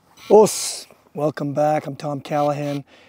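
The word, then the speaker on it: osu: the word o spelled o su as many of you know in the u in Japanese language is silent. And um so it's just pronounced o.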